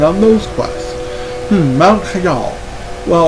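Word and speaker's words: Hyjal: Mount Shal. Well, or hyel as people like to pronounce it.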